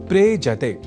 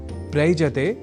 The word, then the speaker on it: प्रेजते: दोनों के मेल से शब्द बनता है प्रेजते। प्रयजते नहीं।